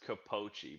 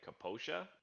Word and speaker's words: Capoche: name so it's pronounced capoche but if you were in italy they'd probably say like kaposia but composition okay so